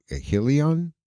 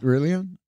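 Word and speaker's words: Hélio: By the way, I was over on Coral Way over here, and there's a Helion Gracie Jiu-Jitsu. Yeah. Rillion? It's spelled Rillion, but it's Helion. Yeah. Everything's an H. Yeah.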